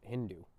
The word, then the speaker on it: Hindu: But the name Hindu comes from the Persian Sindhu, and in the Persian language of that time, the S wasn't pronounced, so it was Hindu, and it just what it meant was the people across the Indus River were Hindus.